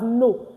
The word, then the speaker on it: ne: It's pronounced as no. Ne is not n. N is pronounced as no because letter e is in French. So that's why ne is pronounced no in French.